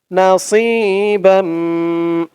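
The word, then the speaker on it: نَصِيبًا: wow second উতু আলাম নাসিবান না সি এক আলিফ টান জের পরে ইয়া সাকিন নাসি এখানে সদের উচ্চারণটা খেয়াল করবেন বলতে হবে একেবারে সি বলা যাবে না সি বললে কিন্তু সিনের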